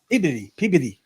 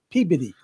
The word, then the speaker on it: Peabody: Peabody. Peabody. Like Peabody. Like P. Diddy.